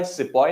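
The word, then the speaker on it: sepoy: do we mean by sippo and the word has come from the Hindi Urdu word sipahi sipahi since the britishers could not pronounce that word it got anglicized to sepoise so there are a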